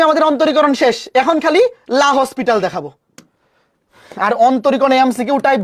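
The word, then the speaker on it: L'Hôpital: শুধু লা হসপিটাল বা এটাকে অনেকে বলে এল হসপিটাল বা আসল উচ্চারণ হচ্ছে ল পিতাল। আমরা এটাকে ভালোবেসে এল হসপিটাল বলি।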